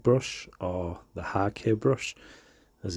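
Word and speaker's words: hake: that you can uh use is uh a heg brush or the haki brush as it's pronounced the japanese uh gauter brush um they're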